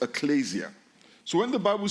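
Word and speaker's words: ἐκκλησία: It comes from a Greek word that is pronounced ecclesia.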